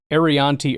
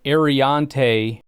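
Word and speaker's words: Aireontae: Offensive tackle out of Minnesota is Ariante Ursary. There's an R in there, and it's Ariante, not Arianti.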